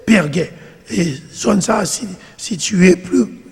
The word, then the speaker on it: Perge: allé du côté de Perguet, ou bien Perge, et j'en écrit en français, mais il était surtout prononcé Perguet.